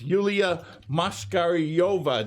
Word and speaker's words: Yuliya Moshkaryova: And in the middle, we have the infamous Yuliya Moshkaryova.